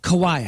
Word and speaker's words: Kawhi: Kawhi.